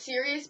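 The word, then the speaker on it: Sirius: pronounce it uh sir Cyrus Cyrus we know it's serus but we just prefer Cyrus because yes not Stak but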